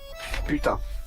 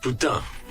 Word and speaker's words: Putain: Putain. Putain.